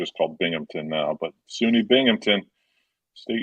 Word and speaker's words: Binghamton: Is it Binghamton?